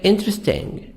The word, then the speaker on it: interesting: e silent this is the first e is silent interesting so you should say interesting going to say interesting